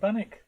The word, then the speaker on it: Barnoldswick: place near here which I'd always call Barnoldswick and the locals call it Banach yeah there's some really